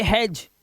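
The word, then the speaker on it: hedge: D silent है इसलिए। इसे पढ़ेंगे एज, इसे पढ़ेंगे हैज, इसे पढ़ेंगे वेज।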